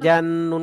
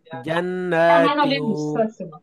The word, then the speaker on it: جنات: تواضع ওকে, এবার দেখেন আমি এই পুরাটা বানান করতেছি। জিম নুন জবর জান, নুন খাড়া জবর না, জান্না। জিম নুন জবর জান, নুন খাড়া জবর না, জান্না। তাওয়াও দুই জের তিউ, জান্নাতিউ।